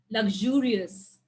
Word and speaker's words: luxurious: in the first cell so english words ending with us but they are more than two syllables there are four syllables then where will you stress on the second one second one from the left anonymous carnivorous luxurious hilarious